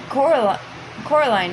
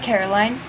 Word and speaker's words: Coraline: They kept saying Coraline, not Caroline. Not Caroline at all."